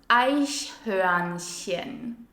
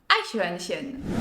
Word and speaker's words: Eichhörnchen: If you really want to put your pronunciation to the test, try the German word for squirrel. It's pronounced Eichhörnchen. Eichhörnchen.